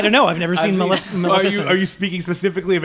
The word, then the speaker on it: Maleficent: The guy who directed that Maleficence movie. Oh, that's right. I'm saying it wrong. He was a VFX guy as well, Maleficent.